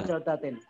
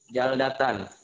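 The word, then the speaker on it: جَلْدَةً: Kenapa dibaca jaldatan apa jaldatin? Jaldatan. Kenapa? Kenapa jaldatan bacanya? Jaldatan sebab jadi tamyiz.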